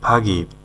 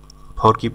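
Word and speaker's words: forgive: হলো ভুলে যাওয়া ফাগি ফাগিব ফরকিব না ফাগিব মানে হলো ক্ষমা করা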